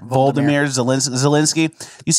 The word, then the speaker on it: Volodymyr Zelensky: Did you know how quick Vladimir Zelensky, was that how you say it? Volodymyr Zelensky.